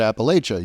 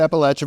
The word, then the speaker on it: Appalachia: know reporters in Appalachia who are pronouncing it Appalachia know that makes every time that happens uh anything that we put out if you get it wrong I'll throw an apple apple so um PBS Appalachia